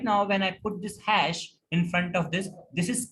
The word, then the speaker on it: hash: For comment, the symbol is hash. Yes. So what is the symbol? Hash sign. Hash. We pronounce it like HATCH, hash. SH, hash.